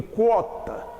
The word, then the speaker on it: quota: Quando eu escrevo assim com QU, eu digo quota.